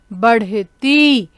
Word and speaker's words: बढ़ती: और बढ़ती में देखिए ब ढ के नीचे बिंदी है, तो इसका हम उच्चारण कैसे करेंगे, हड़, बढ़ती। ध्यान से सुनिए, बढ़ती।